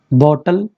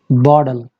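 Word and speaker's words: bottle: बॉटल, बोतल, बॉटल, no. Let's see the trick, बॉडल, बॉडल। ये जो टी है ये डा, कंप्लीट डा नहीं है, ये जो डा हो जाता है ये टा और डा के बीच की आवाज़ होती है जो अमेरिकन प्रोनाउंस करते हैं।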